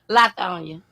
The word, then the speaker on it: Lithonia: Lithonia.